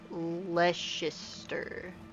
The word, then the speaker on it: Leicester: Like grated cheddar on baked beans or red Leicester. Am I pronouncing that correctly?